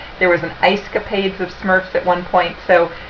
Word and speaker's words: SMERF: he is talking about it's called the Smurf market and it's spelled s SMF it stands for social military educational religious and fraternal meeting groups these tend to be